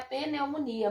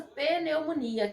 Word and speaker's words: pneumonia: dificuldade de falar né os nossos pacientes chegam falando outros nomes que é a peneumonia mas hoje sim vocês como tec de enfermagem terão que saber para a pronúncia correta da doença peleumonia que a inflamação nos